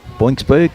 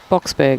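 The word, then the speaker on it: Boksburg: Boxberg. Boxberg? Yeah. There's no N in there. How did you get boinks? Oh, I don't know. Box, as in Springboks.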